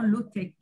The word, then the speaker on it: low-tech: Low-tech, donc pardon, c'est L-O-W, low comme high and low, low-tech. Je le prononce à la française. Mais... Voilà, en français, on dit low-tech.